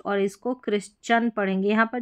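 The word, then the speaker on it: Christian: Next देखेंगे तो religion से संबंधित जो भी वर्ड्स हैं जैसे कि यहां पर देखें इसको चिरिस्ट नहीं पढ़ेंगे।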